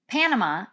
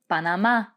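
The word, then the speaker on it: Panamá: rica costa rica and note that the accent is there on that final a so it's not panama it's panama one more time all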